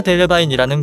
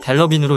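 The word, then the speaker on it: Delevingne: 국내에는 카라 델로바인이라는 표기가 흔히 쓰입니다. 해외에서도 성을 어떻게 발음해야 하는지 헷갈리는지 트위터에 질답이 오간 적이 있었고 여기서 본인이 델로빈으로 읽는 것이 맞다고 언급했습니다.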